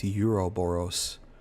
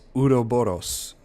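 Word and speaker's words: Ouroboros: If Miranda had access, it bugs me how he pronounces Udo Boros as Euroboros. It's Udo Boros to the Mega Seat since 1919.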